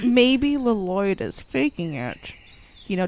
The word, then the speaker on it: Lloyd: You don't pronounce the first L. It's just Lloyd. Lloyd.